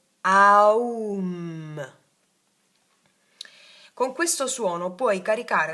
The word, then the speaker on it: Aum: Questo, guarda, si legge. Aum.